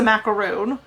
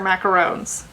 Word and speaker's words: macaron: on the edges anyway that's the macaroon these are macarons okay well we gotta get that distinction we gotta pronounce this right but yeah this is